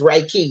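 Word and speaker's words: reiki: again call me yes I will raiki it's raiki y'all raiki I said it right yes it's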